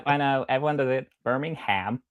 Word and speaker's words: Birmingham: pronounce it right. It's Birmingham. Birmingham.